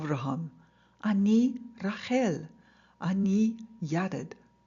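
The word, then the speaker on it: אני: I need the hell Annie yeah dad remember Hebrew likes to give the power to that last syllable Annie it's even better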